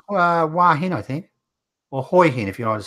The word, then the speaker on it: Hua Hin: If you're living in Thailand, it's called Hoi Hin. It's called exactly how it's spelled, Hoi Hin, not Hua Hin. It's Hoi Hin.